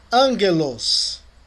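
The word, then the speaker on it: ἄγγελος: Não, Por que você está dizendo que é ângelos? por causa dos dois gamas, né? Tem os dois gamas aí, Isso. como N, como O encontro de um gama com outra gutural é pronunciado como N.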